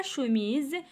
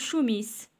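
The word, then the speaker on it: chemise: إذا كانوا هادو ما بينهم إس وكانت إس وحدة كنطقوها بزد. داكوغ؟ داكشي باش بنشر هاد الملاحظة هادي، حيت بزاف ديال الوليدات كيشوفو إس ولكن كيقراوها إس. يعني بحال مثلا هكا شوميز، ممكن أنه هو يقول شوميس شوميس، مي هي لا، خصنا نقولو شوميز.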